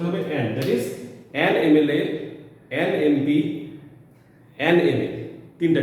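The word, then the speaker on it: MLA: এম থেকে যখন বলছি এমএলএ, এমপি, এমএ, এক্ষেত্রে আমরা এর উচ্চারণে কিন্তু ম এলএ, ম পি, ম এ এরকম উচ্চারণ করতে পারছি না। কি প্রনাউন্সিয়েশন আসছে? এম এলএ, এমপি, এম এ।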